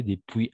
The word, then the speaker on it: depuis: Depuis se pronuncia depuis nomás, sin la S, ¿no ves?